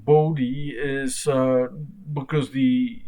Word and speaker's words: Bode: last name the pronunciation bodhi is because the name after which the plot is named is is an american so i pronounce bodhi the american way not the german way um so here is